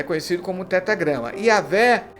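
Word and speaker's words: Yahweh: Yavé é como os rabinos afirmam ser a pronúncia correta.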